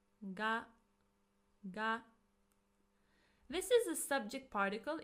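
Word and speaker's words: が: Ga. This is a subject particle. It is pronounced as G and it also can indicate existence.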